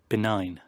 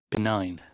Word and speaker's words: benign: Benign. Benign.